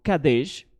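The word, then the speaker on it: קָדֵשׁ: Y entonces vemos qué significa Kadesh en diccionario Strong hebreo, 6945 Kadesh del diccionario hebreo Strong, y dice, pronunciación Kadesh, derivación es esta, y definición es la siguiente.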